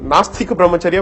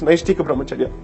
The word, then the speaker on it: Naishtika Brahmacharya: In fact, in the court, most of the time I heard people calling it Nastika Brahmacharya when in fact it's Naishtika Brahmacharya.